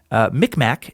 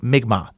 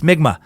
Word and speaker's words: Mi'kmaq: mentioned by someone else Mi'kmaq is actually pronounced more like nygma keep on sucking you